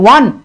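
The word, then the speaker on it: won: ওন নয় উচ্চারণ, এটা উচ্চারণ হচ্ছে 1। ওকে, ঠিক ONE 1 যেমন উচ্চারণ, এখানেও কিন্তু সেম উচ্চারণ।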